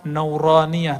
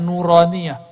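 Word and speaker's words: نورانية: huruf-huruf makanya ribet tuh kita kasih nama nauraniyah itu bacanya nuraniyah huruf-huruf cahaya dan dulu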